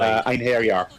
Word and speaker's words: Einherjar: The Einherjar, I believe, if I'm pronouncing that correctly. Einherjar, yeah. Okay, yeah.